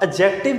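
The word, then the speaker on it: adjective: अब एडजेक्टिव क्या होता है, एडजेक्टिव जो होता है इसको सबसे पहले एडजेक्टिव नहीं बोलना, इसको एडजेक्टिव बोलना है, इसमें डी साइलेंट होता है, जो स्टूडेंट पहली गलती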